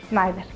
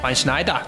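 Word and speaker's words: Sneijder: Snyder. Se pronuncia diferente. Ah, es que como es de Holanda, el Van Hart Snyder.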